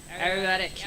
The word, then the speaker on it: Ayurvedic: Is it Ayurvedic? Am I saying it right? Ayurvedic, yes.